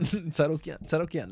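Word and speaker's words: Tsarukyan: But now the pronunciation. Armin, but that was a decision as well. Tsaroukian. That's how they say it.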